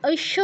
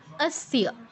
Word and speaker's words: অস্য: কেউ ঐশ্য বলবো না, দেবী কবচৈশ্য বলবো না, অস্য अस्य আর কবচস্য।